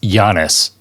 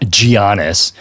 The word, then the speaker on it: Giannis: And by the way, it's pronounced Giannis, not Giannis. You don't pronounce the G.